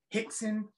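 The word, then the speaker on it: Rickson: my teacher uh uh Ralph Gracie but it's pronounced H in Portuguese Brazilian Portuguese all the RS are ages half ho Hixon so um I started you know training Brazilian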